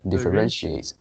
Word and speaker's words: differentiate: uh it seems like it separates into two parts so the first part is like differ and then the stress is on the differentiate this is something like that differentiates differentiate so the pronunciation stress is on the third syllable achieving a goal is